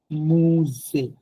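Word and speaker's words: musée: যখন অ্যাকশন এগু দেখবেন তখন এটা সাউন্ড হয়ে যাবে এ, নট উ, ইটস এ। বাংলাতে একার এ। সে লো বেবে, লো কাফে, মুজে, একুতে, লো বেবে, লো কাফে, মুজে, একুতে। এখানে কিন্তু অকুতেও হয় নাই, মুজো হয় নাই, কাফো হয় নাই, লোবোবো হয় নাই।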